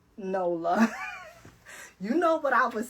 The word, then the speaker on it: NOLA: Okay, I don't know why I kept thinking it was Noya. Every time because for some reason in my mind, the L is silent.